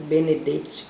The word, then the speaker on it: Benedetti: morou Eu também li a prévia de Mário Benedetti o benedite como alguns pronunciam Mário Benedetti é um escritor uruguaio eu